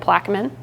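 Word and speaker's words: Plaquemine: it's right south of plaman that's how they say it plaman um along Route One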